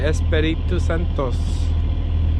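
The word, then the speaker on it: Espíritu Santo: We're heading off to Espiritu Santos. That's how you say it, that's how the Mexicans say it, so that's how we say it.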